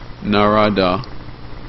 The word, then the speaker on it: Narada: he or a she, when the cobbler asks Narada, the cobbler asks Narada, that's spelled N-A-R-A-D-A, the cobbler asks Nadara whether is he or she is going to receive salvation.